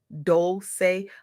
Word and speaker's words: Dolce: I'm your host Dolce, pronounced dol-say, like sweet softness whispered in French.